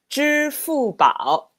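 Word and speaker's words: 支付宝: Oh, Alipay, 支付宝.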